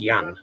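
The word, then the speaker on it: Jan: he's not pronounced it's not pronounced with a Y but he uh you would think it's just eased pronounced Yan.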